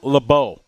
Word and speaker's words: Lebeau: It's Trammell Lebeau. Lebeau, that's what I said. Lebeau. No, you said it right. I was saying it wrong.